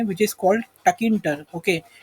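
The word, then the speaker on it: Tkinter: सी इसके लिए ना एक लाइब्रेरी अवेलेबल है पाइथन में, which is called टकिंटर, okay. T silent है और किंटर, ओके, टकिंटर, ओके।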